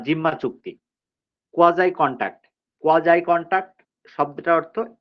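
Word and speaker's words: quasi: কোয়াজাই contract, কোয়াজাই contract শব্দটার অর্থ, এর উচ্চারণটা হবে কোয়াজাই, নট কোয়াসি, কোয়াজাই, কোয়াজাই কন্ট্রাক্ট, এটা একটা ল্যাটিন টার্ম।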